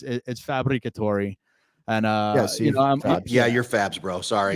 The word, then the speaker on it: Fabbricatore: So it's Fabbricatore, and you're Fabs, bro.